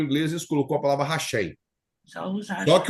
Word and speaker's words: Hashem: Hashem. Hashem, que significa o nome, ou Adonai, é a maneira que eles pronunciam.